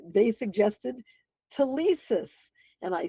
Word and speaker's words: Telesis: And so I changed the name from hands-on learning to Telesis, pronounced correctly, Telesis Preparatory Academy, and that's what our name is